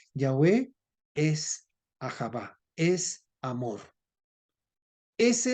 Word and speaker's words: Yahvé: sí Y como mucho pronuncia se pronuncia yahvé es Ajá es amor